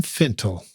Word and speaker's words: Fintel: end the podcast by correcting my pronunciation of your name finttle that's that's me thanks dude well great